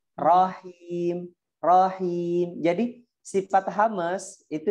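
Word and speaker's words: الرحيم: Jadi hati-hati di huruf ro ketika bersambung sama ha-nya ya Ummu Bilal ya. Jadi seperti ini nih, tadi bacanya seperti ini, salah. Bismillahirrahmanirrahim. Seakan-akan ha yang kedua itu ada sukunnya. Dia nggak ada sukun.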